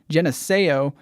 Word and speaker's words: Geneseo: Performing in Geneseo is the pronunciation that I looked up while we were